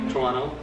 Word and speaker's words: Toronto: Toronto! What? When? Soon. Oh my gosh, my boy squad! Did I pronounce it right? Toronto?